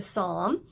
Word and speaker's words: Psalm: in the book of Psalm remember that P is silent so I'm starting with